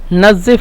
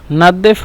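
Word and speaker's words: نضف: নাজিফ, নাদেফ মানে এই যে জোয়া, মিশরেরা জোয়াকে দোয়া বলে, মানে তোয়া জোয়া, এই জোয়াটাকে সোয়া দোয়াত এই হিসেবে উচ্চারণ করে।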